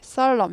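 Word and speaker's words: solemnly: 진지하게 엄숙하게 썰럽니 살롬니 쌀럼 해서 애니 모금이네요 애니 쌀 넘는니 이렇게 안 하죠 n이 묵음 발음이 안 나는 모금입니다 애니 언제 있었냐는 식으로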